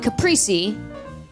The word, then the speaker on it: Caprice: Uh, the C in Caprice, it's actually silent. It's actually pronounced Capri.